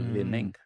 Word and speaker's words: Li Ning: footwear company called Li Ning. Yeah. Li Okay. dash Ning. And he's like, how do you even pronounce that? I'm like, it's like lining, but with a dash in it.